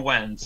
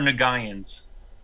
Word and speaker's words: Nguyen: Nguyen, some of them are Wens. He did Little Gotham, right? None of them are Nagayans. No, not a single one of them are Nagayans. It's spelt Nagayan, but it's pronounced Wen.